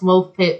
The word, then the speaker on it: Woolpit: But it's pronounced Woolpit because it was actually like a little pit that they had dug to help them catch wolves for the village nearby.